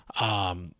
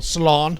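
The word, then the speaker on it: Salaün: Like Ron Holland, Cody Williams, Saloon. It's like Salon. Salon. That's how you say it with the accent.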